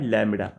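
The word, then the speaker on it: lambda: So wavelength is denoted by लैम्बडा.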